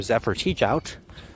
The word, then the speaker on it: Zephyr Teachout: Bernie Sanders would not attack Joe Biden remember Zephyr teach out I can finally pronounce her name right but yeah Zephyr teachout